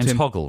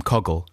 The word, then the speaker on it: Hoggle: about the fact that bowie keeps getting his name wrong and uh good excuse and we uh we just really hoggle right yeah we were calling him coggle in fact bowie calls him bowie calls him coggle in the film and